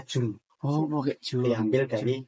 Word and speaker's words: Djoen: Sebenarnya pengucapannya salah. Jadi itu kan ejaan lama, namanya Jun.